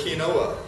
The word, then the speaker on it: quinoa: the grocery store and when you look at how it's spelled you say that wasn't what he just said I'm familiar with kinoa because it's like quu I n o a but that particular grain